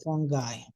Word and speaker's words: fungi: okay fungi so okay how did I tell you to pronounce funi fi it's FY fun guy you are a fun guy instead of saying okay